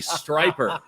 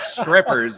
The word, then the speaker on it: striper: that's a candy striper the stripes on the candy cane it's not strippers yeah that's what i thought they said no no i don't know where they were going okay yes rhymes with sniper that's kana striper i